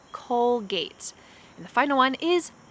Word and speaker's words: Colgate: say j gillette colgate now this one has a true g sound colgate colgate and the final one